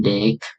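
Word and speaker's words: deque: Oke, sebuah QA diucapkan sebagai DEC atau antrian berujung ganda atau double end.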